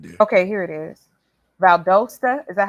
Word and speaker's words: Valdosta: o s right there okay here it is Valdosta is that how it pronounce yeah Valdosta yeah that's s scary it is scary Whoa